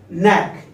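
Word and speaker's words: knack: अभी मैं आप लोगों को 8-10 एग्जांपल्स बताऊंगा, एन के पहले जो भी के आएगा हम उसका प्रोनंसिएशन नहीं करेंगे। ओके दोस्तों, लेकिन वो स्पेलिंग में लिखा जाएगा। अब देखते हैं, फर्स्ट है हमारा नैक।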